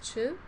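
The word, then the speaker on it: Chöd: She's she has the lineage of it's spelled ch C ch H O O D but it's pronounced chu.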